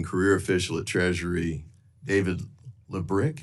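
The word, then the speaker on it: Lebryk: And um I believe you were approached by the highest ranking career official at Treasury, David Lebrick. Is am I pronouncing his name correctly? I believe it's Lick. Leick.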